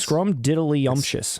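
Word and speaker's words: scrumdiddlyumptious: dible unctions bar yeah I never knew how to say it when they would always say it in that movie I would always say it wrong scrum did are you serious scrum diddly umptious it's scrum didly scrum diddly I think one of the kids say scum DD you have to say it like and it messed me up like diddly like like little diddly dead in the middle of little l l you ever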